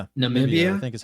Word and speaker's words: Namibia: Maybe it's not Nambia. Maybe it's Namibia. Oh, Namibia. Yeah. Yeah. Okay. N it's N A M I B I A. Yeah. Yeah. Namibia, I think, is how it's pronounced.